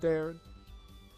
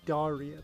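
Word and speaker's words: Daryan: It's not Darren. Get Google Translate back up. Say it proper. Darian Crescent. It's Darian.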